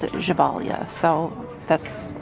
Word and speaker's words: Gevalia: Kelly McKelly, the Gevalia coffee carafe. And it is $3.99 at Value Village. I know in the commercials they pronounce it Gevalia, so that's how I'm pronouncing it.